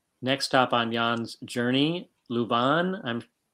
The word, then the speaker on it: Leuven: Next stop on Jan's journey, Leuven. How do you pronounce that, Ron?